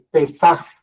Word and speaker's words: Pesaj: En hebreo, la palabra, bueno, en hebreo no tiene vocales, pero si lo pudiéramos decir es pesaje. Pesaje en nuestro con poniéndole unas vocales para poderlo pronunciar otros los los de habla hispana.